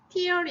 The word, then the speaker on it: tear: tear, 찢다라는 동사로 쓰일 때는 발음을 tear이 아니라 tear 이렇게 발음해야 돼요.